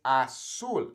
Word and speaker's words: azul: not azul right it's a soul it makes that s sound okay so be aware